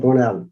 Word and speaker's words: Burnell: In Galway, it's pronounced Burnell. And in Dublin, it's called Burnell. And Tipperary as well, Burnell. Burnell. Yeah, there's probably Burnell because there's no E at the bottom of it, but it's probably of French origin.